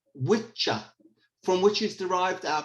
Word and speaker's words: Wicca: creed of Wicca, or in pronunciation in the ancient Norse language, witcha, from which is derived our current word witch.